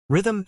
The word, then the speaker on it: rhythm: Rhythm is slash r.m slash, which can be tricky because the S sound is in the middle.